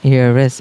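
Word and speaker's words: heiress: ওকে, অ্যান এয়ারেস, এখানেও কিন্তু এইসের উচ্চারণটা হচ্ছে না, এই জায়গাতে অ্যান চলে আসবে।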